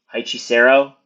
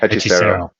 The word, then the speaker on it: Hechicero: I don't know how to pronounce this name. Hichisero? That's definitely wrong. Hechicero. Oh, I did say it right.